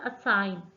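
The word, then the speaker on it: assign: Next word है हमारे पास असाइन। असाइन में जी।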